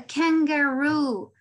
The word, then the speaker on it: kangaroo: El acento en este animal va a estar en la última, ¿no? Porque tenemos una doble vocal. We have a kangaroo. Es decir, que nos vamos a demorar un poquito más pronunciando la U al final, ¿no?